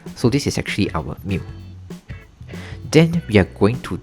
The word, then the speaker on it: mu: the mass of the students minus out the mu right. So this is pronounced as mu mu and is actually the mean.